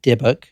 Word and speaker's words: dybbuk: The reason you hear that word, the Dybbuk box, which is spelled Dybbuk, Dybbuk, that is how you say it.